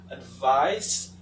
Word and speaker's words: advice: The first one is advise with a z sound, and the second one, advice with a s sound.